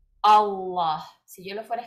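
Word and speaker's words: الله: Si queremos decir no es Alá, también vamos a decir no es allá tampoco, es Allah. ¿Okay? Esto es, ¿ok? ¿Cómo se pronuncia? Allah, Allah.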